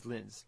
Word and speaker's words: Lins: But how do you say his last name? Lintz. It is Lintz, yeah.